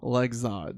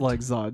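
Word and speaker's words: Lexod: awful l e x o d That's awful legs OD I that's what I'm calling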